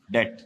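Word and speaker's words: debt: इसको कहते हैं डाल ये टे, डेट, बीच में साइलेंट है, डेट फाइनेंसिंग।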